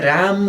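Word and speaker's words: 람이: राम गा भन्नुभन्दा उच्चारण के शैली हुन्छ, राम ई शैली हुन्छ। अब भन्दा चाहिँ के भयो, म र ई मी भएर रामी भयो।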